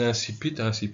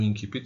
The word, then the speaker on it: incipit: de réel, on a un incipit ou incipit selon les prononciations, à la latine ou à la française.